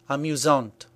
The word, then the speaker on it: amusant: And that's what happens with amusant and amusante. This means that the masculine version is pronounced amusant with a silent T, and the feminine version is pronounced amusante with a T pronounced clearly.